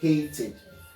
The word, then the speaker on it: hated: hatred hating hating so if we look at the pronunciation it's going to be something like this so it is pronounced hated let's look at other